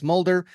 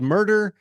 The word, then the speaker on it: Mulder: Like, it shouldn't be hard, but yes, Mulder. We've been called murder, mule deer.